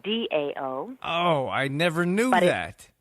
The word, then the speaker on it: Tao: how you say it Dow let's pronounce like Dao oh I never knew